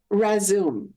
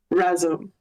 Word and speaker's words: Razom: Um, and then Razoom. Razoom for Ukraine. Resume means together in Ukrainian. And I probably didn't pronounce that right. Do you know the right pronunciation? Razum. Razom.